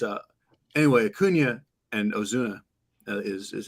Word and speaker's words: Ozuna: away from but it's uh anyway kunya and Ozuna is is how you say it there um